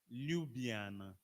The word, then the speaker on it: Ljubljana: How do you pronounce the capital of Slovenia? I always find it difficult. Ljubljana. Ljubljana.